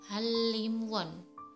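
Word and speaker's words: 한림원: Untuk yang kedua adalah hanrimwon, harusnya dibaca hamrinwon, tapi yang benar pengucapannya adalah halimwon.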